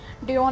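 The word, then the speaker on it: Dion: और मुझे यहाँ पर ड्यूक भी देखना पड़ेगा। गाइस मैं उसका गलत नेम प्रोनाउंस कर रही थी, उसका नाम ड्योन है, ठीक है, पर अभी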